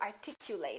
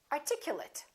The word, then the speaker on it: articulate: well and really clearly I would like to articulate it and we have an adjective equivalent articulate he's a very articulate man it means he speaks clearly and he speaks well so if it's a verb we say eight and if it's a noun or an adjective we reduce this eight and we say it separate separate separate approximate approximate